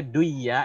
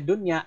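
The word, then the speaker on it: دنيا: Harusnya duya ya, benar kan? Nun mati ketemu ya duya, seharusnya kan? Kenapa kita bacanya dunya idhar, sedangkan hukumnya idgham? Kenapa dibaca jelas idhar dunya?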